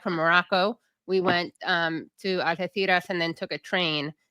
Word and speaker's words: Algeciras: Now, Algeciras, by the way, that's how you say it in Spain with the theta.